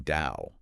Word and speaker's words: DAO: And just so everyone knows, if we mention DAO, we mean DAO, like cow, but with a D.